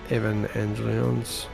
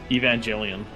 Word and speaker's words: Evangelion: There are there are units coming to save the day from uh how do you pronounce that? Evan Angel. Evangelion. Yeah, Evangelian.